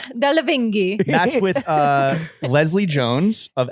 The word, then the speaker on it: Delevingne: Cara Delevingne, which is funny because I thought she was Oh.